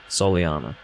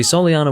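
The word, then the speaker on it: Soleanna: it's sol anna soleana see solyana was my first guess in terms of pronunciation but the whole first recording i was saying sol adam because i had the game volume too low on my television so i didn't hear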